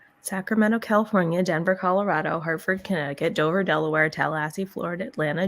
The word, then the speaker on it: Connecticut: It's because it's got that silent C. Connecticut. Yeah, Right. Connecticut.